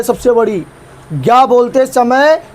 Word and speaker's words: ज्ञ: ज्ञ बोलते समय ग और य आता है। लेकिन अभी बोलूंगा कि इसका उच्चारण ग प्लस य की तरह होता है।